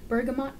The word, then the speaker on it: bergamot: a warm blend of bergamot no that's how you pronounce it bergamot polished mahogany and a